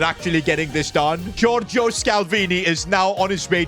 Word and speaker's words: Scalvini: And that was quick, because I've just found Giorgio Scalvini. His name rhymes with Chiellini.